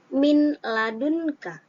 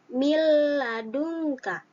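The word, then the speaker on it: مِنْ لَدُنْكَ: Contohnya seperti min ladunka. Min, nah dibacanya bukan min ladun, tapi mil ladunka. Mil ladunka. Di situ ada nun sukun bertemu dengan lam.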